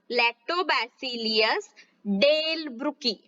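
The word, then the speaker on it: Lactobacillus delbrueckii: देखिए Streptococcus, Streptococcus थर्माफिलिस, Streptococcus थर्माफिलिस तथा लैक्टोबैसिलियस, लैक्टोबैसिलियस डेलब्रुकी. देखिए हमने क्या प्रोनाउंस किया, स्ट्रेप्टोकोकस थर्माफिलिस और जो लैक्टोबैसिस डेलब्रुकी है, इन दोनों जीवाणुओं का उपयोग यहाँ पर किया जाता है.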